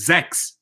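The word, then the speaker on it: sechs: cinco we got six in german six means zax right sounds like a cx but it's not it's spelled h s-e-c-h-s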